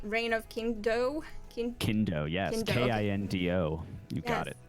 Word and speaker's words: Kindo: am i saying it right reign of kingdom kendo yes k-i-n-d-o you got it the reign of